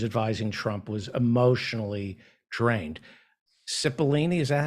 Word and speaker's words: Cipollone: Cipollone, is that how it's pronounced? Pat Cipollone, the White House Cipollone. Cipollone. Cipollone, yeah.